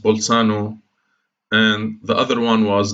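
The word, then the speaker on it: Bolzano: wrote in German okay so in Italian it's pronounced pole Sano and the other one was vitro's german mathematician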